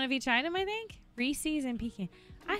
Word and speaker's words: Reese's: Reese's and pecan.